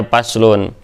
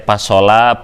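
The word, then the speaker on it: فَصْلٌ: Nah, ini dibacanya paslun. Kadang yang baru baca ini teh dibaca teh pasola, pusulun, pislun atau apa. Nah, ternyata dibacanya adalah paslun.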